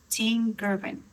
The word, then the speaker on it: Tim Girvin: Tim Girvin.